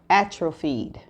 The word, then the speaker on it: atrophied: couldn't pronounce or don't know the definition of is spelled a t r o p h i e d and this is how it is pronounced atrate say it one more time attri atrophied okay it's a adjective it's a body of